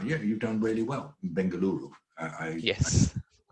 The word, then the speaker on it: Bengaluru: Yeah, you've done really well in Bengaluru. Yes.